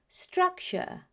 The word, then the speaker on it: structure: The T-U-R-E ending is very often pronounced as ch. Let me repeat that, ch. That's why it's future, structure, nature, architecture. Now you know some of the most common pronunciation mistakes Spanish speakers make.